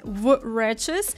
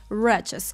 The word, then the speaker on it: wretches: Обратите внимание, что первая буква W не читается, это silent letter. Будет ошибкой сказать wretches, мы начинаем сразу со звука r, wretches.